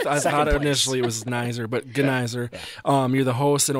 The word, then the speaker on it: Gneiser: that's the second that's the worst the best mispronunciation I should say and yeah that's I I initially it waser but gizer um you're the host and organizer of creative